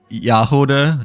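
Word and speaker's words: Jahoda: Um it's more like uh Yahoda there. No. Oh, okay. So, like um the J J is pronounced as uh Yah instead, right?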